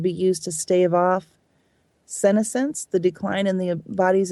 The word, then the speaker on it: senescence: It's often pronounced senescence, Okay.